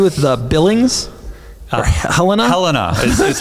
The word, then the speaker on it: Helena: Helena is how you pronounce it. Thank you to whoever corrected me on the last pod. I've been saying Helena for months.